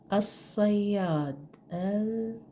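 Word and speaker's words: الصياد: Next, as-sayyad. Here is the sun group, sad. So the sad from the sun group letter. When you put L, you write it, but you don't spell it.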